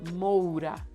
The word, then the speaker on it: Moura: And then Moura, the OU sounds. Wagner Moura.